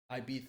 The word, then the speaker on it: Ibiza: said ibiza on it ibiza it's pronounced ibiza and some girls say